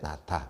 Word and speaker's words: 낳다: 자, 그 다음에 이제 우리가 아이를 낳다라고 할 때 낳다. 이거 한번 볼게요. 됐니? 자, 보니까 어떤 현상이 나타나더라. 그래, 히읗과 디귿이 만나니까 뭐가 된다고요? 거센 소리인 티귿이 되더라.